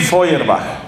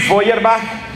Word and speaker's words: Feuerbach: Alemania ludwig lud y el apellido ferach se escribe feuerbach feuerbach se pronuncia ludwig feuerbach ludwig feuerbach es un filósofo que